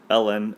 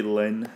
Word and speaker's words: ln: do I say it or you can say the natural log the natural log of X right there's more syllables though so I say Ln of X all right don't say Lin Lin is not a thing or maybe it is but it's not a thing for me so anyway a common